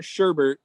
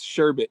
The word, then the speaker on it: sherbet: you spell it right remember it's not sherbert it's sherbet just like the ice cream the ice the dessert